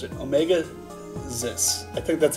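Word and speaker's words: Omega-Xis: you kid who are you the name is Omega zis I Omega zis I how have I how have I always pronounced it Omega ziss I think that's how I've always pronounced it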